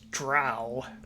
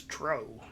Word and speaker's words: drow: I realize, of course, that the widely accepted pronunciation of the word is drow. However, back in the early days, we always pronounced it as drow.